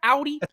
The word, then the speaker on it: Audi: get the word wrong what is it any Audi Audi box is that correct Audi that's how you say it Audi Audi okay